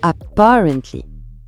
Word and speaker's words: apparently: Et pour la prononciation, on accentue la deuxième syllabe apparently.